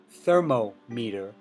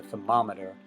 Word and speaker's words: thermometer: meter in odometer or we don't say thermo meter when we talk about a thermometer we say thermometer so it's the same